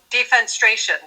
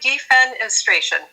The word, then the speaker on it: defenestration: So you had you had sent me an email ages ago about defenestration. Am I saying it right? Defensration. Defenestration. Yes.